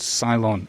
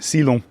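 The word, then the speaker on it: Sylon: It's called Ceylon, S-Y-L-O-N. Ceylon is perhaps how French people pronounce it.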